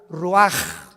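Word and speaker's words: רוח: Roach así como suena se pronuncia la c en hebreo como J ruaj se les só y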